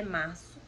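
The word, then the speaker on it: marzo: escrito com o Z, e mesmo assim a pronúncia é março, ok?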